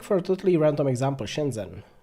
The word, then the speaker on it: Shenzhen: a totally random example Shenzhen how do you say it what's the set h2 inter can just ignore the H spoiler warning you can't set H is its own sound in Chinese we don't have time